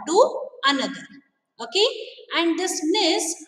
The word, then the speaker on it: gneiss: Okay, how do you pronounce it? Gneiss.